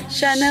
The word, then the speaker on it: chenille: I know it's spelled like C-H-E-N-I-L-L-E. I just don't know how to say it. Chenille.